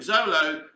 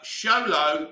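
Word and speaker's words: Xolo: spend time chatting with zolo pronounced uh show low all right show like it's not zolo it's show low all right we get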